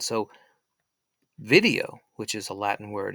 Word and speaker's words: video: it's a language video, or we should say video. Now, video is how the ancient Romans would have pronounced the V. So the V would have sounded like a W.